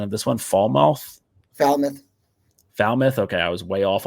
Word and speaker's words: Falmouth: They play against, so this is a Massachusetts school where I don't really know the pronunciation of this one. Falmouth.